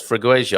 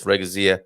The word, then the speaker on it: freguesia: Specifically, 19 do you say freguesia? I know some people like to pronounce this as freguesia. I'm sure it's freguesia.